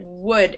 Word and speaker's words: wood: wood that was better wood it's an uh not an ooh wood wood would just like